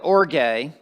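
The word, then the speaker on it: ὀργή: Now the word wrath, I'm going to pronounce the Greek word because it comes into the English language and you're going to immediately recognize it when I pronounce it orge, orgy.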